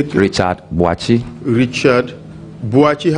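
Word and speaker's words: Boakye: Boachi, how do you spell that? B-O-A K-Y-E. Boake, okay.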